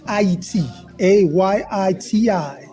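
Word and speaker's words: Ayiti: a Yi TI this is the correct way to say Haiti well we're getting education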